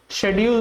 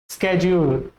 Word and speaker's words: schedule: वन is correct, स्केड्यूल is correct और इज शेड्यूल correct? What do you know, बोलो। अगर इफ you have more inclination toward American English then you should say स्केड्यूल, स्केड्यूल, क्योंकि American जो American aspect में, American pronunciation